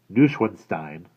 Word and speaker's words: Neuschwanstein: Neuschwanstein, which is the correct way to pronounce it, was his grandest.